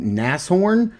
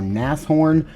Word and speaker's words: Nashorn: But I think it's pronounced, if this is horn, then it should be Nasshorn.